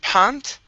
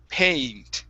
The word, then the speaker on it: paint: paint is peeling okay now here you're saying pant okay this is an a sound so it's two two sounds mushed together a p paint paint pen paint okay let me have